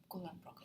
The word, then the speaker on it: Kulon Progo: Jadi di sini untuk penyebutan Kulon Progo jangan di bahasa Inggris, kan tetap Kulon Progo seperti pengucapan lokal.